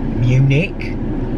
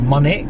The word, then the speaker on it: Munich: the way to blackpool i was talking about munich but i said i couldn't pronounce it because i never said it out loud so i said monic and the people next to me were like